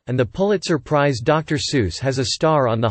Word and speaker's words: Seuss: Geisel's most famous pen name is regularly pronounced Sjus, an anglicized pronunciation inconsistent with his German surname. The standard German pronunciation is, he himself noted that it rhymed with voice, his own pronunciation being SS.